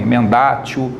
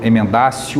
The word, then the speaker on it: emendatio: A gente escreve emendatio ou mutatio, né? Pode ser pronunciado assim também, emendatio, mutatio, ou emendácio, mutácio.